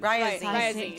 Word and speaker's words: Ryazine: Rising? Rising. Ryazine. So close. I wrote it out phonetically.